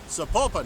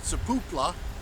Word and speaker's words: Sapulpa: How do you say that? I think it's Sapulpa. Sapulpa, not Sapupla. Sapulpa.